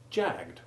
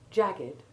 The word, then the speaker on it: jagged: If it were to be revived, its past tense form would be jagged with a silent E, exactly like crooked when it is the past tense form of the verb to crook. When the E is sounded, jagged, like crooked, is purely an adjective and means with sharp edges.